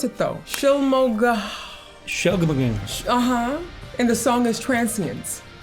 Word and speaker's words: Shylmagoghnar: Shylmagoghnar. And the song is Transience. That we can say. It's spelled Shylmagoghnar. That's what I said. Shylmagoghnar.